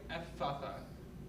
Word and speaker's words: Ephphatha: I would imagine though it's more like the sound is lengthened, like Ephatha, like sort of like in English where we said have some like unnamed, like two N's. Like pizza. Exactly. Okay. It's more like the sound is lengthened as opposed to pronounced twice.